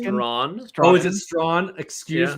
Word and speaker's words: Strachan: Mike Strawn is pronounced Strawn.